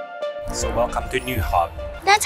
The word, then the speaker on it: Nyhavn: to run around so welcome to new hub that's how you pronounce it nyhavn exactly how you read it you just said